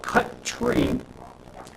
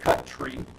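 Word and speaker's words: cutree: cutting the tree um I don't know why not C and then t r e e but I'm just going to pronounce it as it is cut tree um and so what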